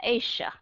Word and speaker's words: Asia: âm g nhưng mà người Mỹ cũng Again họ đã họ đã Mỹ hóa thành ra có nhiều họ đọc là Asia có nghĩa là họ đọc trở thành ra âm S cho nên một số